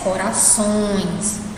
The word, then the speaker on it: corações: Corações. Somente essa última sílaba, que é a sílaba onde tem o tio, é a sílaba que o som sai pelo nariz, certo?